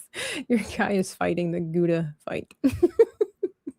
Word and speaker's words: Gouda: Uh it's pronounced gouda in Netherlands. So, in America we say gouda.